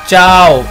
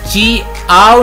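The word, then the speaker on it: ciao: है वो वॉवल हैं, ये मैं जैसे प्रोनाउंस कर रहा हूँ चाओ, मैं ची आओ नहीं पढ़ रहा, मैं चाओ पढ़ रहा हूँ। ये जो दरमियान में आई है इसे आप इसकी आवाज लूज करेंगे और आप चाओ पढ़ेंगे।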